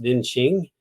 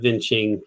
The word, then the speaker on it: Vientiane: of the capital city, which I've heard pronounced Vientiane, but it's spelled in a French way, as you can see. And I don't know what the local pronunciation would be. I've heard Vientiane before, so let's take it at that.